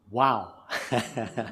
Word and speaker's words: WOH: Et la plus grande de toutes dans notre système, dans notre galaxie, c'est WOH. Et en anglais, on prononce wow.